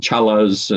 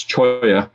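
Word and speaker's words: Cholla: keep on moving okay cool all right so choy is and i i you know people often mispronounce words and names so you hear people call them challas and that kind of thing but it's choi um and so these are tree-like um and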